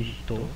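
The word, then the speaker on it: 人: Só que aqui, quando ele está sozinho, ele tem som de Hito, né? A gente vai pronunciar ele como Hito, e ele vai significar pessoa.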